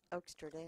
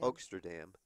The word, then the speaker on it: Oaksterdam: So I may be able to do some teaching down at the Amsterdam, how do you pronounce it? Oaksterdam. Oaksterdam Yeah, you better learn how to say University.